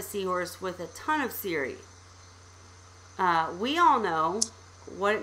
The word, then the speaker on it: cirri: Cirri? Yep. It's pronounced cirri.